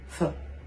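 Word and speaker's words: phở: une soupe le faro ça s'écrit ph haut et vous prononcer fin comme beaucoup de recettes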